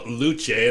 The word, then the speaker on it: Lucé: Well, uh, I alluded to a few moments again the new Canon theater company with us on the line, Noah Luche. And I know I pronounced it wrong, Noah, but how are you, my friend?